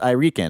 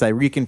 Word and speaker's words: Irican: podcast and said it's I Rican I know you guys are gonna ask me it's I Rican productions that's how you say it I Rican and then Alex was